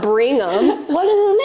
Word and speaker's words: Brigham: His name's not Brigham.